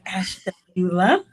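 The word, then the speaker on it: Ashtabula: city called Ash Tula know if you can pronounce that but it's ashula um all of these cities are in Ohio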